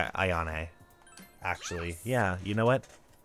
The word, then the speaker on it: Ayane: This is Ayane. Ayane. That's how you pronounce her name.